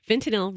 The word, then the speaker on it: fentanyl: and you'll die okay just remember fentanyl rhymes with dollar bill all right so don't